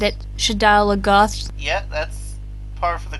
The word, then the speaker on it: Shadar Logoth: Shadar Logoth, yeah. Oh my god, is that how you say it? Yes. I said it, Shadar Logoth.